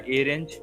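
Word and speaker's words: arange: है एक होता है और रेंज ठीक है इसको अरेंज मत बोल देना ठीक है ये रेंज होता है ये ठीक है स्पेलिंग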